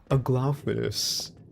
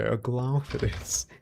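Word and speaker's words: Aglaophotis: And I looked it up, and then I always got like Aglophidus. Aglophidus, and I was like, okay, Aglophidus. It's just like such a funny word to say.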